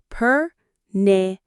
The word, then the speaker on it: pernicious: Pernicious. Pernicious. The stress is on the knee in the middle. Pernicious.